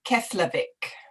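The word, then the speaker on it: Keflavík: and this i cannot help okay can you pronounce the name of the airport slowly she's asking it's keslavik yes unless maybe you would like to type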